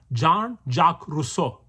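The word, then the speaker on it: Jean-Jacques Rousseau: russo yeah french dude john is spelled j e a n john jack j a c q u e s jack russo r o s s e a u russo janja crusoe he's different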